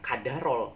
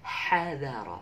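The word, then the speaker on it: حَضَرَ: Tapi bacanya jangan kadarol, tapi hadharol, tipis ya, pakai h. Hadharol. Kadar airnya, kadar oksigennya sebesar apa sih kadarnya? Kadar ini adalah suatu ya kadar gitu. Tapi bacanya itu jangan kadar, tapi hadar, pakai h, bil ha laisa bil kaf.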